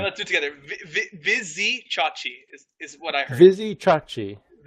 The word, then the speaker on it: Vizicsacsi: Vizicsacsi is what I heard. Vizicsacsi. Vizicsacsi. Like you say A like it's alternate, so Vizicsacsi.